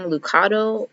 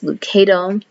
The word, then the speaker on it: Lucado: So in other videos, I kept saying Lucado, but apparently that's not how you pronounce his name. It's Lucado.